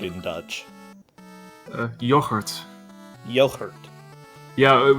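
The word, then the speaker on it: yoghurt: how do you say yogurt in Dutch yogurt yogurt yeah the G is pronounced differently in Dutch okay it wouldn't be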